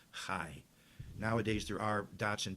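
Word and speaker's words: חי: Only the consonants were written. So Chai was written Chet, Yud. And when you read it, you knew how to pronounce it. You pronounced it Chai.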